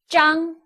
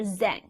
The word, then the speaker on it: Zheng: so zha mg together is pronounced as jung so you call someone mr. Jung and you should not call someone mr. Zheng see that's what I